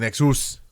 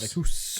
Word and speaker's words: Nexus: Scarlet Nexus, like anus. Nexus. That's how you correctly pronounce it. Nexus.